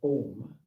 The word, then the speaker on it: Om: And at the very top of the shrine, you will find the sound symbol in the conjoined Devanagari script Om, consisting A, O, M, these three syllables, followed by a silence that infers that which we can never think of or describe.